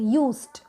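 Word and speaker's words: used: अब आप इसको यूज्ड नहीं पढ़ोगे, यूज्ड, यूज्ड ट की साउंड आएगी।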